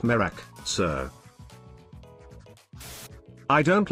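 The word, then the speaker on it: Miraak: Middle Ages is there America ain't no way mirakia it's it's pronounced merak sir I don't like him putting chemicals in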